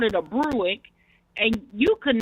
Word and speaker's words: Buick: If you teach him the right way to say Buick, I'm pretty sure he won't say Bruick anymore.